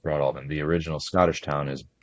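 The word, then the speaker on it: Broadalbin: Uh, the town, everybody who lives there called it Broad Albin. It's pronounced Broad Albin.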